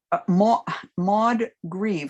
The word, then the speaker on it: Maud Grieve: Maud Grieve, I'll spell it.